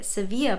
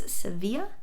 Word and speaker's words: Sevilla: the pattern name so the pronunciation should be the Spanish pronunciation which I believe is Seeva hopefully I have zero